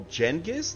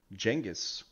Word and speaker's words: Genghis: Oh, Genghis? That's how you say it? That was Genghis. Genghis.